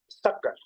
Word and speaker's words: Sukkur: Sikarpur, Sukkur, but actually it is pronounced as Sakkar.